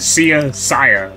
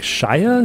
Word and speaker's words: Sia: Sia. I would always see it pop up like on my playlist. I'm like, Shia? Is it Shia? Not Shia. I don't know.